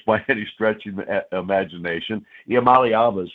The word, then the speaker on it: Iamaleava: Iamaleava is how you say it, but I screwed that up 2 or 3 times.